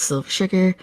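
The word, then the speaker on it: XSilverSugar: You can find me most corners of the internet as Silver Sugar or Silver Sugar. The is silent.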